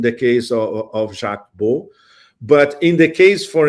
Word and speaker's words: Baud: So Colonel Baud, spelled B A U D, but pronounced Baud, uh is a Swiss citizen.